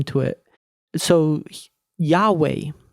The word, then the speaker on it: Yahweh: is where we get yahweh because if you pronounce it out yod would be yah yode h yah yode waa waa yahweh it's how it's pronounced so i hope you